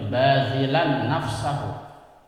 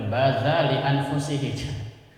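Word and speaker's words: باذلا نفسه: Ini kemarin saya putar otak nih, bacanya gimana nih depan bazilan, ternyata bacanya bazilan nafsahu. Kemarin saya baca bazali anfusihi.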